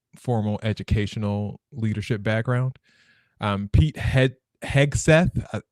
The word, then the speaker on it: Hegseth: Pete Hegseth, I was pronouncing the G as a J for the longest time. That's why I stuttered there. Pete Hegseth is the Secretary of